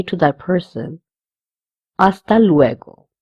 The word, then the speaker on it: hasta: say to that person, hasta luego. The H again, it will be silent.